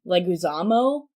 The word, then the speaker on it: Leguizamo: main cast is Nicole Kidman Ian MacGregor John Leguizamo I believe is how you say his name